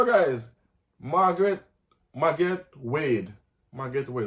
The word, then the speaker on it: Magatte Wade: Magatte Wade, that's what her name is pronounced.